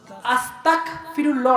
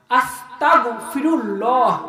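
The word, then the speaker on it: أستغفر الله: আছে তওবাটা কি আস্তাগফিরুল্লাহ কি আস্তাগফিরুল্লাহ না আস্তাগফিরুল্লাহ গইন উচ্চারণ হবে আমার নাম এখন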